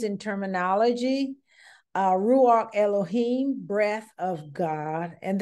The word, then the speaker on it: Elohim: All right, and continuing names and terminology, Ruach Elohim, breath of God, and that is pronounced Elohim and not Elohim, is Elohim. I has an E sound in Hebrew, okay?